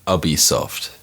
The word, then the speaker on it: Ubisoft: What's the correct pronunciation? Someone I help me. believe it's Ubisoft.